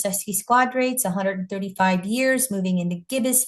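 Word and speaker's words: sesquiquadrate: Here's the wasking sesi squares as astrologers are saying now I learned how to say them as sesy squadrates 135 years moving into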